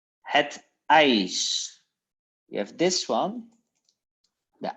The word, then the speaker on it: ijs: It's het ijs. We have this one. The I. Het ijs. We have two letters and you pronounce like I.